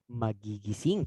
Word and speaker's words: Magigising: Magigising. Tama. Magigising. The soft G. Notice that.